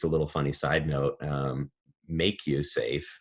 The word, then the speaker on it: MakuSafe: is Hawaiian for risk so we we put a line over the a and pronounce it make you safe giving the a the long sound but it's actually kind